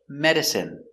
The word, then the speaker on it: medicine: Example, medicine, margarine, intestine, genuine, famine, and jasmine. Let's take a closer look. Our first example, medicine. Pronunciation is in medicine.